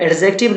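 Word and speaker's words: adjective: आप याद रखेंगे कि जब कभी भी ए और जे दोनों के बीच में डी आता है तो उस डी का प्रोनाउंसिएशन नहीं होता है, तो इसे आप एडजेक्टिव ना बोल करके आप इसे क्या बोलेंगे, एडजेक्टिव बोलेंगे। क्या बोलेंगे, एडजेक्टिव बोलेंगे।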